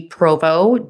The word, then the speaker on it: Provot: my handle's at d provo d-p-r-o-v-o-t the t is silent um yeah that would